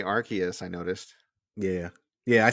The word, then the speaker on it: Arceus: You can say Arceus, I noticed.